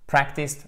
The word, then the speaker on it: practiced: Practiced, par contre, méfiez-vous parce que l'accent tonique est en premier, ce qui nous donne avec le son court practiced, practiced, practiced.